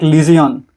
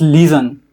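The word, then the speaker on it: Legion: So I was uh pronouncing it like Lison. Then he said it's not Lison, it's Leon.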